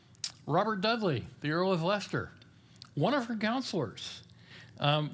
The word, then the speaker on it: Leicester: fond of um Dudley Leicester, as he sometimes called Yes, that is the way you pronounce that. L E I C E S T E R, it's how we get things like Worcestershire.